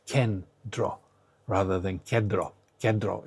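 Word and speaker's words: κέντρο: This is why these two n they don't fuse together to make a d but they are separately pronounced as n and t. So it's kendro rather than kro kro. It's not kro, it's kendra, right?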